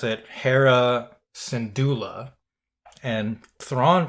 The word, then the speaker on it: Syndulla: So we pronounce it Hera Syndulla, and Thrawn pronounces it Syndulla.